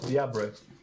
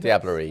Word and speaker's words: diablerie: to them for voluntary diablo. I think that's how you pronounce it. Diablerie, yes. There we go, I got that right.